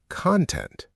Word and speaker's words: content: Same spelling, different pronunciation and meaning. When it's a noun, content, it means the stuff inside something, like a video or a book. But when it's an adjective, content, it means quietly satisfied, peaceful, not ecstatic, not